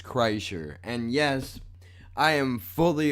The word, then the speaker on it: Kreischer: right there was Kreischer the proper way to pronounce the man's last name is Kreischer and yes I am